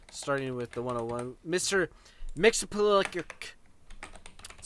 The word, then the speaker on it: Mxyzptlk: Mxyzptlk your That's how you say it.